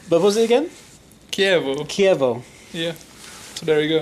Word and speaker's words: Chievo: And I have to apologize to the Italian community because I kept calling my formation Chivo, where it's actually Chievo, I think, Yes, right?